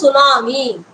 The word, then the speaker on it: tsunami: even know how to pronounce tsunami when T was in the first when you write that's right when you say tsunami how T can come because we have never